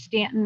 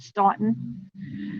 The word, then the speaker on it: Staunton: It's Stanton, not Staunton.